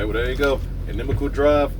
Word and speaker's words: Inimical: find uh on all the socials it is pronounced enemal enemal drive on all the socials Instagram Facebook